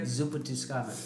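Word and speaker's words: Zuppa Toscana: So this is Zupa Tuscana. Right? Yeah, you said it right. Say it again. Zupa Tuscana.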